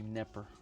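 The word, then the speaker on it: Knepper: It's actually Neper. At least that's the way they pronounce it.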